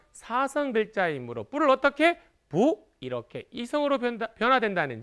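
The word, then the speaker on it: 不: 즉 원래는 뿌가 사성 글자입니다만 뒤에 따라 붙는 단어의 성조가 사성일 때는 성조가 변해요. 어떻게? 부 이렇게 이성으로 변화된다는 점 꼭 기억하시기 바랍니다.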